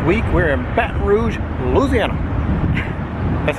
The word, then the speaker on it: Louisiana: This week we're in Baton Rouge, Louisiana. That's how you say it. Louisiana. Yeah, exactly like it. Yeah. You're trying to get it as fast as you can in as few syllables as possible.